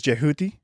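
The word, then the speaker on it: Djehuty: So, we'll go through uh his Egyptian name is Jahuti.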